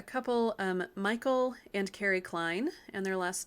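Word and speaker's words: Kline: there is a couple um michael and carrie klein and their last name is spelled k-l-i-n-e michael and carrie klein they've been really important mentors to me as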